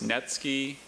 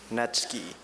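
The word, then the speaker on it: netsuke: It's Netski, Netske, and Nets. Net is the one he should focus on. That will give him the spelling phonetically in Japanese. It's a noun. Netski.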